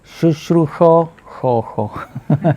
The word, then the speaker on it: शुश्रूषो: हाँ, ये generally north Indian बोलते नहीं मगर श होता है संस्कृत में। सो शुश्रूषो ऐसे बोलना पड़ेगा, संस्कृत प्रोनाउंसिएशन है।